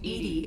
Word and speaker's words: EDI: is a jar so why are you named edie is the phonetic pronunciation of edi that is an acronym for